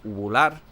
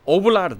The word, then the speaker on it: uvular: Ovular, no. Velar. Ovular. ¿Cómo se dice? Uvular. Uvular. Es como la R francesa. Es uvular.